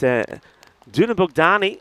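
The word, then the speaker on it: Dunabogdány: What I can tell you is Duna Bogdani, that is how it's pronounced, by the way.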